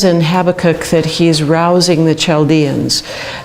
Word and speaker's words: Habakkuk: jumping into Habakkuk, and there are different ways to pronounce that. I pronounce it different ways. The actual real way is probably Habakkuk, but being an American, I pronounce it Habakkuk.